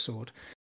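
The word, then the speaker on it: Saward: w a r d so Kieran sword it's pronounced sword uh he and I got on really well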